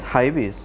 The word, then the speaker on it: Hibis: We pronounce this as Hibis.